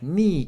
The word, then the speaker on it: に: two, three and four に is pronounced like /ni/ in ‘needle’ Do you see the needle pulling the thread?